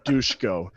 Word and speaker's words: Dusko: Mr. Dusko, they pronounce it Dushko, and I can't help but laugh every time I say it, but hey, whatever, it's his name.